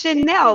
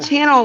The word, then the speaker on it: Chanel: here leave my pronunciation no it's Chanel like the store but with two L's like the perfume it's not channel like the TV channel okay okay okay okay